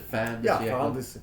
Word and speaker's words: fin de siècle: And am I getting this French term correct in the pronunciation? Fin de siècle? Is it fin de siècle?